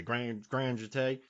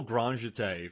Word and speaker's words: grand jeté: I had to look up how to say this word because I was going to say grand jeté, and she just does this beautiful grand jeté from one end to the other.